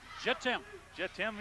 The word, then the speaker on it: Jittim: It's spelled J-I-T-I-M, so Jittim Young.